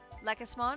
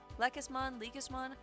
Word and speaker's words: Lekismon: We're gonna evolve to Lekismon, I think that's how you pronounce it. Lekismon. I always keep calling it like emphasis on the leek, as in like the vegetable, but it's not.